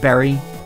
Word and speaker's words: bury: Fred furry berry curry it's weird how burry is print words pronounced berry even though it doesn't look like it would be at all and that's just like a word that you have to learn is pronounced that way I think if I